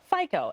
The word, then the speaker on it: FICO: much so I don't even know if I'm pronouncing it right is it FICO absolutely FICO f i but the ratings have a much